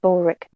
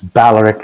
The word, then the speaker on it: Baloric: i can't call you bulwark officially part of the crew i'd prefer you didn't especially since that's not how my name is pronounced oh yes it's baloric it's actually a the vowel sound it never mind the